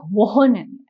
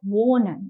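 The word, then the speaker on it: wohnen: a whole lot so it shouldn't sound like won it sounds like Wen you know it's subtle it's smooth so v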